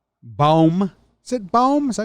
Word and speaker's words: Bohm: Yeah, I like Bohm. Is it Bohm? Is that how you say it? Baum? Alec Baum? You can double check. I want to say I think it's a hard O.